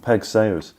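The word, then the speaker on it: Peig Sayers: um about a lady called pigs is it pronounced Peg Peg Sayers Peg Peg Sayers yeah um she sounds like an incredible lady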